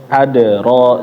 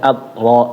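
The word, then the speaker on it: أدرى: Adro jangan adro wama di ayat 5 wama adro jangan dibacanya atro atro.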